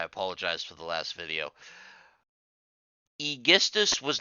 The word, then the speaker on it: Aegisthus: Oh, and her husband's cousin, Aegisthus. I'm told that's the correct pronunciation, so I apologize for the last video. Aegisthus was not trusted enough to be brought to war, so he was left behind.